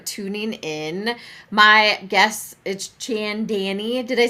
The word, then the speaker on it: Chaandani: And so I'm like, Chaandani. Chaandani. Chaandani. Like a knee on your leg. Chaandani.